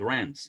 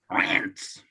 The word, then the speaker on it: Reims: But oh, well, Susan Hanlon's just said, and I think Reims is pronounced Rants. It is indeed. You have to have a bit of a guttural Rants to say it correctly.